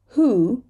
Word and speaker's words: who: your wrist right wrong who right here we have a wh but we're saying the H and we're dropping the W who dark L whole